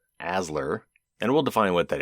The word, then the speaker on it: ASLR: randomization is third round or aslr pronounced asler and we'll define what